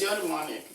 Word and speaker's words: eudaimonic: It's eudaimonic.